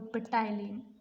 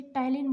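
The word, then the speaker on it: ptyalin: Salivary amylase और पेटाइलिन, पेटाइलिन नहीं बोलेंगे हम इसे, सॉरी, इसे टाइलिन बोलेंगे हम, पी साइलेंट रहेगा।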